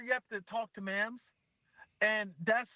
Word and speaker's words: Mams: Okay, and it's Mams.